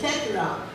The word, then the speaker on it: tetrarch: The next one is tetrarch. Okay. Tetra, how you pronounce it?